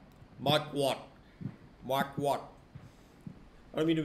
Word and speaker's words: Marquardt: Mark, how do you pronounce his last name? Marquardt.